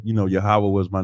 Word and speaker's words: Yahwah: most high God Lord he said yoh wave we would say yahawah and we would spell it y a h w a h yahwah got that right so that's how but